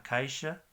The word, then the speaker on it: caixa: X en portugués es bastante interesante que se articula como SH en inglés, sh. La caja es a caixa, Abajo es embaixo.